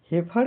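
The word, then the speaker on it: heifer: एच ई आई एफ ई आर का उच्चारण pronunciation हेर एच इ आई का उच्चारण हे होता है एफ इ आर हर माने हल्की ध्वनि के साथ हेफर का हिंदी अर्थ बछिया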